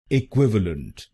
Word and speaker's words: equivalent: गलत प्रोनाउंसिएशन में हम इस शब्दांश को बोलते हैं लेंट, तो इस शब्दांश को लेंट नहीं बोलिए, इसको बोलिए लंट लंट। तो बनेगा इक्विवेलेंट इक्विवेलेंट। ए क्विव अ लंट, ए क्विव अ लंट। इक्विवेलेंट इक्विवेलेंट। और इस शब्द में आपको दूसरे शब्दांश पर यानी QUIV पर जोर डालना है।